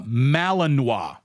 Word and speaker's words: Malinois: that uh goofy dog uh that I couldn't pronounce there we go ma uh malinoa uh question here from uh what I kill